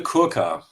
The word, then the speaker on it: Kirkoff: First of all, uh it's Koka.